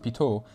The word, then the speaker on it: Pitot: more explanation and yes it is pronounced pitot after French engineer Jorge pitot who invented